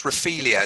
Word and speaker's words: Raphaelia: John, you picked a track for us, and am I pronouncing it right? Gillespie and Co featuring Raphaelia. Yeah, so it's Raphaelia.